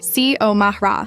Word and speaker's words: Xiomara: She pronounced it perfectly. C-O Mahra, clear as a bell.